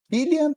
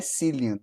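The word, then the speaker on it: Cillian: comentário é o seguinte a pronúncia no nome ele é kilan Murphy não é silan ele se eu não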